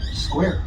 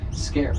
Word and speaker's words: square: It's like a KW sound, kuwa, as opposed to just a K sound.